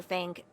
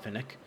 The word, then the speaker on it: Fink: Fink? If it's about the Wi-Fi, Ah, it's Fink. That's how you say it. Not Finnick. Fink. Finnick was a doctor somewhere else. Can't remember now.